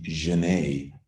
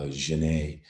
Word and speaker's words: Janet: flanner uh uh and she is the Janae which would have been how French people pronounced her name uh Janae uh the French pronounced